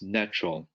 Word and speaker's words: Natrol: Yes, the ones that I'm familiar with are one called Life Extensions, and the other one is Natural. That's spelled Natrol.